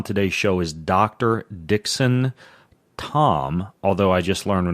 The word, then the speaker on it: Thom: we started recording that if I want to sound like a sophisticated German I would pronounce it Dr Dixon Tome his book is called